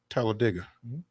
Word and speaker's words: Talladega: but yeah that's uh that is the actual correct pronunciation is like dig a hole Talladega but you know it's